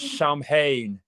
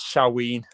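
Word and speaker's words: Samhain: Everyone pronounces it Sam Hayne, but it's saw.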